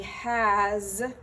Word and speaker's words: has: use the conjugation has, the S is pronounced like a Z, as in Zulu, not an S, as in Sierra. So there's a vibration in the sound there. It's he has been, or she has been, or it has been.